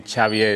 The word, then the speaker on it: Xavier: originally from Barcelona Spain that's why my name chavier is a little bit complicated to uh pronounce and I did my PhD interestingly uh